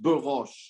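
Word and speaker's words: ברוש: Oh, so yeah, it would be pronounced Barosh.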